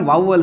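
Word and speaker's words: vowel: जिसको अपन बोलते हैं वाउवल साउंड्स। एक ये वोवेल नहीं होता जी, क्या होता है, वाउवल, वा उ ए ले, इस तरीके से उच्चारित करेंगे, वाउवल साउंड्स, ये पार्ट आ गया जी।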